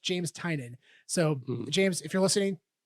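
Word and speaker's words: James Tynion: eye on that date also his name is pronounced james tynan not tenian i've been calling him tinian but it's pronounced pronounced james tynan so james if you're listening i'm sorry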